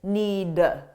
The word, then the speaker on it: need: Notice that I didn't pronounce the D, need. Because if I do that, it forces me to take a pause, which slows me down. So if you don't pronounce that D at the end, you'll be able to speak faster.